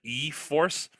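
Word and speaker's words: e-4ORCE: wheel drive version which is the e force stupid name it's e dash the number four o r oh gosh how else would you pronounce it how is that confusing no but like if you it's e forces f-o-r-c-e that's what you would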